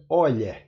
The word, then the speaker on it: Euler: é chamado o número número de euler é e eu lá em português mas na verdade se pronuncia olha em homenagem a leonardo